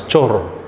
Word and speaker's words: chor: Notice the word Cora is still found in the Indian language today. Only thing is they pronounce as chor today. Chor means robber. They drop off the last vowel by process of apocope.